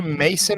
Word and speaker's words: Mason: in makon or something Mason or I I pronounce Mason Ohio down near Kings Island the amusement park